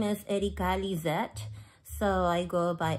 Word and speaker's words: Erika: spell that e-r-i-k-a Erica but I say it in Spanish Erica Erica actually my name is Erica Lizette so I go